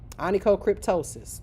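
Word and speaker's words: onychocryptosis: So, just re recognize the words and associate them to how I'm pronouncing it. Okay? Anico cryptosis.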